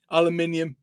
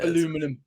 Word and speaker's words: aluminium: out of aluminum aluminium how do you pronounce it aluminium definitely yeah not aluminum my american heritage yeah